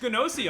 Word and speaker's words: Gnosia: That is true, because I did not finish Gnosia on stream, but then the Gnosia anime got announced, and it was like, huh?